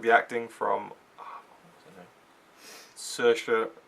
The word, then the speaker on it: Saoirse: like the acting from search for ronan that's how you pronounce her name she's an irish actress